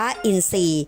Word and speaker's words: อินทรีย์: พอ รอ สระ อี เป็น คำ ควบ ไม่ แท้ พอ รอ ออก เสียง เป็น ซ้อน ทำ นี้ อ่าน ว่า อินทรีย์ นัก เรียน ต้อง จันทร์